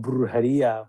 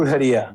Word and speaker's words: Brujeria: There's such a difference between, I guess, that band and your I don't even want to mispronounce Brujeria. Brujeria.